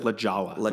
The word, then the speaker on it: La Jolla: way to La Jolla La Jolla okay it's pronounced lajawa oh there we go there we go but